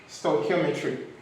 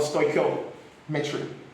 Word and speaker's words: stoichiometry: Now, how do we pronounce the word stoichiometry? Stoichiometry or stoichiometry.